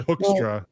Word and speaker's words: Hoekstra: It's actually hoekstra, like hook. But if you don't know Dutch, you wouldn't say it that way. You'd say hoekstra. That's what it looks like.